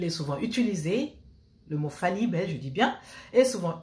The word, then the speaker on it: fallibel: Fallibel, écoutez bien comment je prononce.